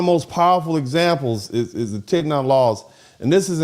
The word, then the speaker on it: Tignon: It's not Tignois.